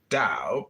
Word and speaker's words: Dao: The word Dao, properly pronounced Dao, has lent its name to a way of understanding and living in the world with profound implications for modern societies.